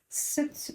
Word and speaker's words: Sat: point d'ombrile sur SAT, on va prononcer S U mais c'est en fait écrit SAT set.